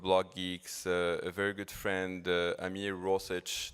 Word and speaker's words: Ameer Rosic: He's the co-founder of Blockgeeks, a very good friend, Ameer Rosic, that's how his last name is pronounced.